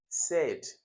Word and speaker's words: said: Said. No, this is different. This is like the air sound, like as in air.